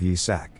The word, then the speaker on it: Yi-sak: But of course, because they're monsters, they can't pronounce his name, and they keep calling him Isaac instead of Yi-sak.